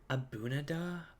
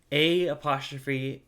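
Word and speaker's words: A'bunadh: Abunada? That's not how you pronounce that. A''Bunadh.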